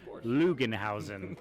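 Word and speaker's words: Loogenhausen: can find me at lugenhausen on Twitter and Instagram it's l-o-o-g-e-n-h-a-u-s-e-n it's spelled exactly like it sounds lugenhausen and if you say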